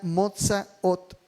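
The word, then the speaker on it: מוֹצָאוֹת: La palabra salidas en hebreo se pronuncia motsa ot y se refiere a los orígenes o el principio de algo.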